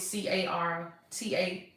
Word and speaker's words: Carta: So it's C-A-R-T-A, no, C-A-R, oh yeah, that's right, T-A Healthcare. So Carta, I pronounced it wrong.